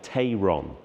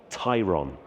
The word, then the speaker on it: Tayron: pronounce the name, because in English you would probably read that and say Tayron, but it's actually Tayron. And I guess it's a little bit like Porsche Taycan.